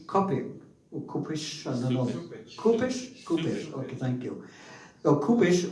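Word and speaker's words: Cupich: Kupish, okay, thank you.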